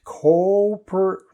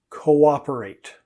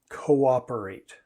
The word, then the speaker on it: cooperate: acceptable completely typical okay next we have a problem with the vowels here again cooperate copper no we actually get two sounds out of those two o's cooperate cooperate siblings sometimes find it